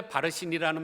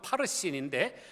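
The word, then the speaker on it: פַרְסִין: 그런데 바르신이라는 말의 원어 발음은 파르신인데 파르신이라는 파라스의 수동태 분사형입니다.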